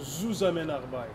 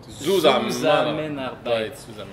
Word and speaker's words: Zusammenarbeit: Et on prononce Zusammenarbeit. Zusammenarbeit.